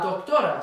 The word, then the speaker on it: doctora: But then we have la doctora. So here we've got on the last syllable, here we've got on the second to last syllable, another word that's synonymous to doctor, la médica.